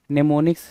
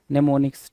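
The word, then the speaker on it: mnemonics: spelling होती जहां पर टी क्या होता है साइलेंट होता है उसी तरह आपके निमोनिक्स में क्या होगा भाई निमोनिक्स लिखोगे मनेमोनिक्स नेमो मोनिक्स ना हां निमोनिक्स ठीक है नेमो निक्स हां एम एन ई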